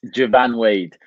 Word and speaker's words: Joivan Wade: yes perfect so it's javan wade i often say it's like japan with a v um because i've had